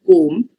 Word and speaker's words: comb: of this is because when you say the word comb you don't really pronounce the be very distinctly ideally okay when you're saying